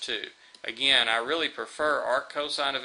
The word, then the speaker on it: arccosine: pronounce that this one we still pronounce either as Arc cosine or inverse cosine you can also see